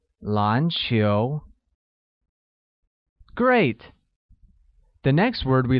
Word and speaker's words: 篮球: Basketball uses a mid-rising tone on both A and U, making it 篮球.